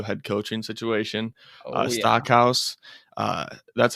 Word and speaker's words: Stockhouse: Stockhouse, that's how you say it, right?